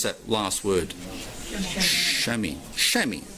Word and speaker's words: chamois: Chamois. The same thing I clean my car with.